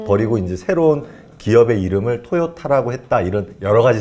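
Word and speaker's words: Toyota: 생각에는 발음이 2 어 일본에선 토닥 아 뭐 도요다 이렇게 발음을 한 듯 미국에선 돌아가 되게 어려운 발음 이라서 글로벌로 봤을 때 그걸 토요타 서양인들 한텐 토요타 라는 발음이 더 쉬워서 라는 얘기 라지 있구요 또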